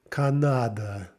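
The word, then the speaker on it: Канада: Okay, there it's the third one that sort of falls out of favor, and we pronounce it as Canada.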